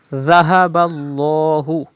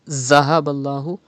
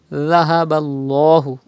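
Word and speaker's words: ذهب الله: Dhahaballahu. You have to pronounce Dhal without whistle. Do not read Zahaballahu. You have to read without whistle as Dhahaballahu.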